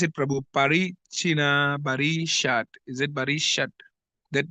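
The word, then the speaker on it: Prachinabarhishat: Parichina Barishat. Is it Barishat? That name, because I see I'm going to read a lot about it. Yes, Prachina Barishat. Prachina Barhishat.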